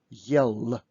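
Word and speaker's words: ел: So do not pronounce this word with the soft L. Do not say yell, because it will be absolutely different word and we would have to use the soft side. We will practice with soft sign later. So try to pronounce hard L.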